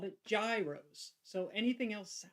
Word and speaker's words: gyro: not know called it Gyros so anything else sounds strange to me well see and I was told it was Euro like almost like European but like almost a j Euro and so I've tried